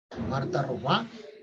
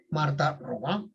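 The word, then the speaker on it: Marthe Robin: Marta Robá, que se escribe Marta Robin, ¿ya? Se escribe así, Marta Robin, pero es Marta Robá.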